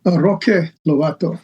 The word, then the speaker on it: Roque Lobato: The first, the Roque Lobato house. Is that how you pronounce it? Roque Lobato, yes.